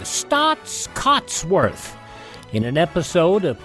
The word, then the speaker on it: Staats: earned reward yes if you want to know it's spelled s-t-a-a-t-s cots c-o-t-s worth w-o-r-t-h stots Cuts worth listening and well my name is